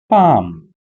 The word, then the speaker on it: palm: is a word called Palm so the spelling of palm is p a l m where L is silent in this particular word so if you all